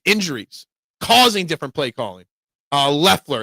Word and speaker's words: Leffler: Leffler, it's pronounced. Okay, Leffler. Well, why is there an O in his name then? Why is there an O in his name? What the hell is with people putting silent letters in their names?